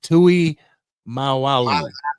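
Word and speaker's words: Tuimoloau: How do you say that? Tui Mawalu. There you go. Mawalu. That's how you say it.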